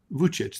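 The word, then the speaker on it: Vučić: Assembly President Alexander VK uh how do you pronounce that vuich that's right uh these these serbo Croatian names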